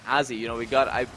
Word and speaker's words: Azzy: Doug, I am so sorry to interrupt you, but I believe it is Azzy. I believe it's Azzy's mother in the Twitch chat correcting us on the pronunciation. Uh-oh. Azzy. Easy, perfect. Okay.